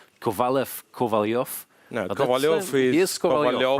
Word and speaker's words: Kovalyov: names, but they're both Kovalyovs, right? Yeah. No, Kovalev doesn't make sense in, say, in any Slavic language. It's always Kovalyov, and then depending on how you spell it, then, people read it.